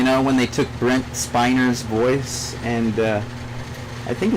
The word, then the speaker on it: Spiner: when they took Brent spiner's voice and uh I think it's pronounced Spiner isn't it it's not spinner right they would have two ends if it was spinner right it's finer and I think it's